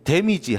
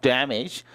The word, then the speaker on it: damage: 근데 이게 우린 데미지 하죠. 데미지. 근데 이 정확한 발음이요. damage예요. 좀 느끼하죠. damage. 자, 그러면 이 사고에 의해 발생된입니다. damage.